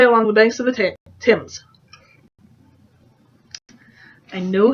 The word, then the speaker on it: Thames: Our taxi snaked its way along the banks of the Thames. I know how to say it, but it's always hard reading Thames and not saying Thames.